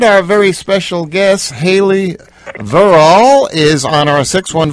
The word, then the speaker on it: Verrall: this correct is it does the accent sound like verall or does it supposed to sound like verall okay so it's the accent is on the the first part of the verb verall I want to make